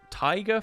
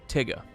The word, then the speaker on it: Tigger: Last time I played Thief was just Tiger from Winnie the Pooh. Oh, Tigger. That is spelt with 2 G's. Come on. T-I-double-G-R. Come on, man. Spells Tigger.